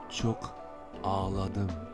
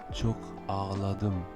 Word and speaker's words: çok ağladım: Et la bonne prononciation c'est çok ağladım, çok ağladım, qui signifie j'ai beaucoup pleuré. On a dit que le CC10 prononçait ch, le G avec l'accent circonflexe à l'envers permettait l'allongement de la voyelle qui précède donc le A.